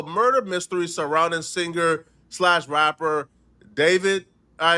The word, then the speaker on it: D4vd: If you guys are not aware, I'm talking about the murder mystery surrounding singer/ rapper David. All right. His stage name is D4VD, right? But I think it's pronounced David.